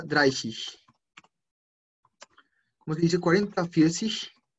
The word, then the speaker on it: vierzig: Vierzig. Esa G al final no suena tanto como una G, Creo que suena muy parecido como una CH.